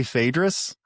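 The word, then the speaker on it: Phaedrus: What is important what is important is when you say Fadris that is the proper way to say it.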